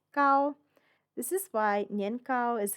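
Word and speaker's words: 糕: the word for cake here they're both pronounced gao this is why nyengkao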